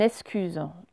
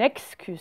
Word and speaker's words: excuse: C'est pareil, il y en a, ils prononcent en disant une excuse. C'est une excuse si on prononce bien.